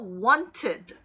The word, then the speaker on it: wanted: 그래서 이 경우에도 ended처럼 뒤에 더해지는 ed가 ed로 발음됩니다. 그래서 wanted 이렇게 발음하셔야 돼요.